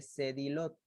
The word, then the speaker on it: Sedillot: Ese triángulo se llama triángulo frénico o también llamado triángulo de Sedilot, que se escribe de Sedillot.